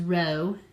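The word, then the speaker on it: rho: it's easier eroded out this is row and this is H fi so kind of like high and row like row your boat that's how you pronounce them um okay so again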